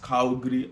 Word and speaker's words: Calgary: So, it's pronounced Calgary, Alberta.